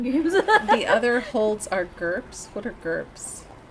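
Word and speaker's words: GURPS: to say that now gerps is a tabletop RPG system that is approximate rhyme with girth Oh I thought it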